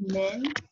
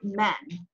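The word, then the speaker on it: من: it and in fact the word min named and noon can also be men which means who so typically like in a paragraph or a sentence you're when you look at it the only way you're going to know how to pronounce it announce it min or you pronounce it men depends on its context in the sentence so that's what makes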